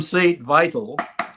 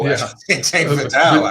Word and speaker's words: St. Vital: So you you were from St. Vital. Is that how you pronounce it? No. Statel actually. Vatel. I said it wrong.